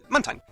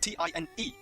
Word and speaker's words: Mantine: But the last part is spelled T-I-N-E. Tine.